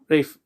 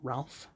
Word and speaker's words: Ralph: Rafe. Yeah, it turns out it's pronounced Ray and not Ralph.